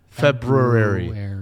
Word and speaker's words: February: can't pronounce February apparently why is there an r in there February but we all say February and I can't do it yeah I've been in